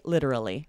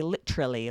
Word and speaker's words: literally: Almost all native speakers say literally, and you're pronouncing all 4, right? Every now and then you'd hear someone quickly say literally. Literally. You and this do is hear kind of a that regional dialect, literally.